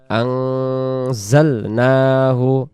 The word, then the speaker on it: أنزلناه: আমাদেরকে বলতে হবে ইন্না আনজালনাহু। আনজালনাহু যদি বলি এখানে জিম অক্ষরটা জা অক্ষরটা জিম হয়ে রূপান্তরিত হবে। এই জায়গায় আমরা জা অক্ষরটাকে জিম যেন না হয় এই জন্য বলবো জাল জাল। আনজালনাহু আনজালনাহু ইন্না আনজালনাহু ফি ফি লাইলাতিল কদর।